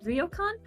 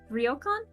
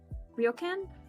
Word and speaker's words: ryokan: you go to a I I know I'm going to mispronounce it but you go to a ryokon ryokan ryokan I I forget I don't know the actual pronunciation but it's like a